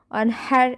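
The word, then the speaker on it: وانحر: ফাসল্লি লি রব্বিকা অনহার, মানে বড় হা, অনহার এভাবে উচ্চারণ করব।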